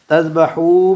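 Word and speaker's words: تذبحوا: बच्चों इसमें ना तज़बहू में अलिफ साइलेंट है। क्या साइलेंट है? अलिफ। इसका निशानी याद है? इससे पहले वाव होती है जी। वाव जमा की होती है तो उसकी अलिफ से।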